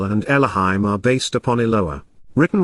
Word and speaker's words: Elohim: is the reason its contracted plural form is pronounced Elohim resembles a tent peg this is important because